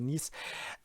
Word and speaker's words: Nice: Then we had an Islamist attack last Thursday in Nice. Actually, that's the French pronunciation, the Nice.